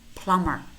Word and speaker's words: plumber: comb comb climb climb notice how many of these words we have em B clusters and in these words normally the B is silent we only pronounce that